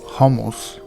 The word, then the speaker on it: hummus: City used to make hummus is actually pronounced homos and in Arabic it